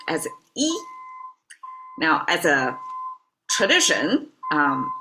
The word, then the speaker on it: 一: It's pronounced as E.